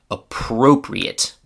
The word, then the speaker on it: appropriate: When this word is an adjective, its pronunciation is appropriate. Appropriate has 2 adjective meanings. Please note that the stress in this word is on the letter O.